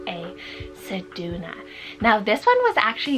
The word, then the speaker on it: Sedona: my next name here we have the name saduna so c e du u n m a Sedona now this one was actually used recently um